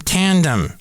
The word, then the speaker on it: Tandm: I'm from Tandem. That's spelled Tandm. Tandem.